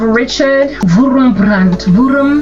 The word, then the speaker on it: Richard Wurmbrand: So go check out Dietrich Bonhoeffer, and I actually want to give the proper name of Richard Wurmbrand.